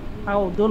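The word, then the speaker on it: حوض: জি হাউ হাউ আচ্ছা হুজুর এটা কি জুয়া জিমের মত উচ্চারণ হবে না দোয়ার মত উচ্চারণ হবে হাউদুন বলবো না হাউদুন বলবো হাউদুন বলবে না অবশ্যই হাউদুন জি দ আচ্ছা হাউদুন সগি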